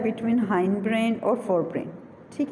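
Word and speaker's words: hindbrain: ठीक है, उसके बाद नेक्स्ट देखिएगा, नेक्स्ट है हमारे पास हाइंड ब्रेन, हिंड ब्रेन भी बोलते हैं इसे प्रोनाउंसिएशन में।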